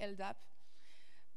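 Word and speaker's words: LDAP: talk about is elap I don't know how to say it in English so in French we say elap okay so before when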